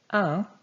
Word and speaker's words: un: Un is nasalized.